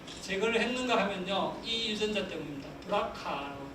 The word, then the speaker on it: BRCA: 했는가 하면요이 유전자 때문입니다 브라카 brca 하 있고요 어 BR 하는게 브레스트가거든요 브레스트 캔서 자입니다 그래서 브라고 읽고 브레스트라고도 하고 어쨌든 유방암을 유발하게 하는